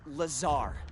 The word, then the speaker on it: Lazar: and it's sales liaison it's lazar actually accent on the tsar but yes i'm your